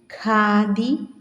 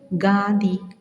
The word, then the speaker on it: ഖാദി: നമ്മിൽ പലരും ഉച്ചരിക്കുമ്പോൾ ശ്രദ്ധിക്കണേ നമുക്ക് ഉച്ചരിക്കാം സുഖം മുഖം നഖം ഖാദി അഖിലം ഹരം എന്ന് ശരിയായി ഉച്ചരിക്കുന്നതിന് പകരം നാം സുഖ സുഖം മുഖം നകം ഗാതി അഖിലം ഗരം എന്നിങ്ങനെ തെറ്റായി വച്ചിരിക്കുന്നത് ഒന്ന് ശ്രദ്ധിക്കണേ എന്നാണ് പറയുന്നത് അതുപോലെ ചില